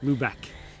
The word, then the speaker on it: Lubec: So, we left our campground in Campobello Island, popped over the border here in Lubec, which is how it's pronounced. We know that now. Lubec.